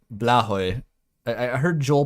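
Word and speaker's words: Blåhaj: How is Blahaj? Apparently it's pronounced like Blahoy.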